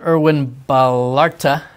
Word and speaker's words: Erwin Ballarta: Erwin Ballarta. That's right. You pronounce it well, Trey.